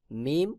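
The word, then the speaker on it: ميم: ঠোঁটের শুকনা অংশ হইতে মিম উচ্চারণ হবে দুই ঠোঁটের শুকনা অংশ হইতে মিম উচ্চারণ হবে তারপর রয়েছে নুন জিহ্বার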